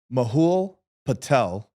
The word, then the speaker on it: Mahul Patel: Mahul Patel confirmed that's how his name is pronounced.